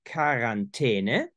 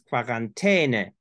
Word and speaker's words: Quarantäne: are essentially two, and there is quarantene, which is very near to French quarantaine. And you have in Austrian German and Bavaria and many parts of southeastern Germany pronunciations that resemble more the Italian quarantena, because it's quarantene.